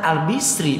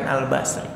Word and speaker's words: Al-Bisri: Nah ini dalam sebuah kitab namanya Kitab Jami'ud Durus, dibacanya Al-Hasan Al-Bisri bukan Al-Basri.